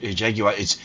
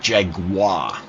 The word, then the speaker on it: Jaguar: And it's not It's not Jaguar. You got to say it properly. Jaguar.